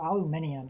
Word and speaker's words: aluminium: So aluminium actually makes more sense because there's an I there. We just don't pronounce it in where I live.